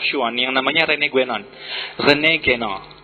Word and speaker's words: René Guénon: René Guénon, bacanya dalam bahasa Perancis.